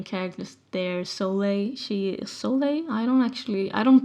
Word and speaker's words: Soleil: of the main characters there Soleil she is Soleil I don't actually I don't pronounce the name of my characters out loud so now it feels so lay so lay yeah she uh she uses she